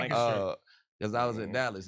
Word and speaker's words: Lancaster: They put the emphasis on the wrong syllables.